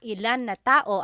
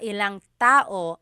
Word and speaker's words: ilang tao: Instead of mga ilan na tao ang darating, it's mga ilang tao ang darating. About how many people are coming. So that's just a pronunciation tip. Make that contraction to make it flow a little bit better.